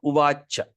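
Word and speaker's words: उवाच: So what are you going to pronounce? Uva. Okay. Here. Cha. Cha. Small A. Okay. Mataji, please mute yourself. Okay. So uvacha.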